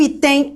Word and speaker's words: item: Qual é a sílaba tônica? Bom, eu falo, eu resolvi um item, ou eu falo, eu resolvi um item. Agora, professor, eu tô com dúvida. Não, eu resolvi um item, beleza? Última sílaba, penúltima sílaba é a mais forte.